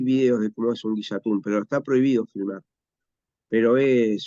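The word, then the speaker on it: ngillatún: Y bueno, y Guillatún se escribe NG, por lo general, un Guillatún como Guille, y es una ceremonia de 3 días en la que justamente se agradece.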